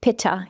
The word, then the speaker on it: Pitta: The Pitta person, we pronounce it Pitta here in the West, that elemental design is someone who's medium-bodied, reddish hair, reddish skin, maybe early graying.